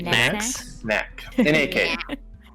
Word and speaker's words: Nak: Yeah, we had to guard a bunch of necks. We have to, don't we? Yeah. Necks. Yeah. Necks. And Nax? Am I saying it right? Necks? Necks. Knack.